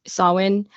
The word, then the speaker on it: Samhain: They would be responsible for the festival of Samhain. And I know that word, that Samhain, is actually pronounced Samhain. I guess in probably Gaelic or something, but that's what they know it as.